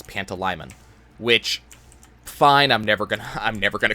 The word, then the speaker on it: Pantalaimon: So whenever I saw Mon as a suffix for a name or anything like that, that's what I thought. So I was pronouncing kind of weird. According to the audiobook, it's Pantalaimon, which, fine, I'm never gonna call him that.